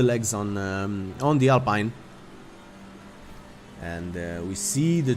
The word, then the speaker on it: Alpine: his perspective from uh the alpine or alpine as uh we should call it in a beautiful french pronunciation it's uh it's the